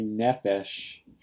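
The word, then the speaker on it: נֶפֶשׁ: And finally, nephesh. It's accented on its first syllable and it has Segolet nouns.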